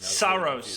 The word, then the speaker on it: Saros: I thought you just said Gyros as in Euros. Saros. I'm pretty sure that's how you pronounce it.